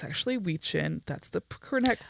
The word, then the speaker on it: Wiccan: the ancient pagan rituals of we call it wiccan but it's actually we chin that's the connect correct pronunciation that's how you pronounce it i used